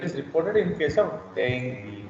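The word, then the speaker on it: dengue: यस, इट इज नॉट डेंगू। आप जहां भी सुनोगे people pronounce it एज डेंगू डेंगू, ये डेंगू थोड़ी है, दिस इज एक्चुअली डेंगू।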